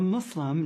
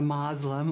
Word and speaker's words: Muslim: who does the practice part yeah so a Muslim not a Muslim or we have so many different pronunciations but the most correct is Islam and